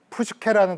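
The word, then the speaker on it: ψυχή: 푸슈케, 이 아래 보시면 PSUKHE라고 되어 있는 푸슈케라는 단어가 있는데요. 이 푸슈케는 딱 들어도 약간 의성어 느낌이 들지 않으십니까요? 푸슈, 이렇게 호흡을 내뱉는 푸슈케, 이렇게 발음이 되는데요.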